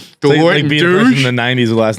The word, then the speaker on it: Touche: Delati and Touch. Deloitte and Touche. When you work for an accounting firm, and the name of your company rhymes with douche, it was like just open season every time.